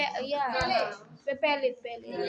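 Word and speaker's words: Palade: করার দরকার নাই রাইবোজোম আবিষ্কার নামকরণ করেছেন কে প্যালেডে বিজ্ঞানী প্যালডে প্যালেড রাইবো আবিষ্কার করেছো আর মিস বাংলায় তো আরেকটা লেখা অ্যালবার্ট কি ইয়া প্যালেট প্যালেট প্যালেট প্রোনাউন্সিয়েশনে প্যালেড আর বাংলায় লেখা প্যালেট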